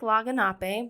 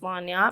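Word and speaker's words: lagniappe: So it looks like Laganape, but it's pronounced Lanyap.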